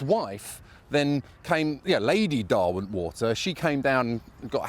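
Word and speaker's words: Derwentwater: Earl of pronounced Darwin water says Derwin is pronounced Darwin water one of the leaders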